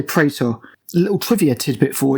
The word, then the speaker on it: Praetor: I say Praetor, a little trivia tidbit for you. If you're going by the Latin, Praetor is actually pronounced Praetor.